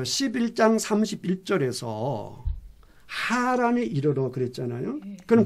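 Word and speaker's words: Haran: 이제 우리 한글이니까 똑같이 하란인데 사람 이름은 우리 한글로 하란이라고 해도 똑같아요. 발음이 하란인데 지명은 하란이 아니고요. 하란입니다. 여기 있어요. 안에서 이 안쪽에서 나오는 발음 자체가 달라요. 이 단어 자체가 히브리 단어 자체가 달라요. 그러니까 사람 이름은 하란이고 지명에는 하란입니다.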